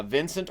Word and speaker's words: Vincent: manager uh Pascal uh Vincent or vinon I've heard it pronounced both ways uh but he's still